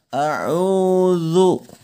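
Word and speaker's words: أعوذ: masuk ke huruf dza huruf dza ini bukan huruf Dal ya tapi huruf dza Wook bukan au.au do ya melainkan harus zuk Coba anda bisa Sebutkan lafalkan kata zat a'udzu bukan aha uduk dimana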